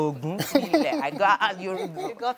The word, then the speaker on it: Ogunkunle: Ogunkunle. Yes. Pronounced correctly. Ogunkunle.